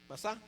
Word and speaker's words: Masá: Pero en hebreo es masá, en hebreo es masá, ajá. Acá en español pues la escriben masa, pero van a que masá, que es como se pronuncia en hebreo, ¿ok?